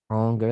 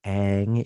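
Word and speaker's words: Ingres: pretty good example uh this is anger and then believe it or not that's how you pronounce his name um or aang even and it's his grand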